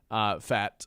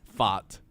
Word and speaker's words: Pfaadt: the mound for Arizona, Brandon Pfaadt. I think is how you say that last name. Pfaadt.